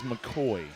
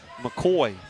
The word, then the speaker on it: McAvoy: And Kevin, I checked with Jack's Corner. It is McCoy. McCoy.